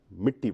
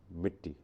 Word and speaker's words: مٹی: سکتی، مٹی رہے گی۔ تو آپ مٹی مت بولیے، جس لب و لہجے میں بھی بولیے، مگر مٹی بولیے۔ کیا بولیں گے؟ مٹی۔ بالکل درست، مٹی۔ اپنا بہت خیال رکھیں،